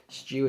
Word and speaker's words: Schew: Stew is spelled S-C-H-E-W, like stew. Stew.